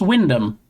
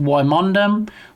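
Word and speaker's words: Wymondham: So, it's pronounced Windom, but you know, I've heard it pronounced Wondom, Wond Ham.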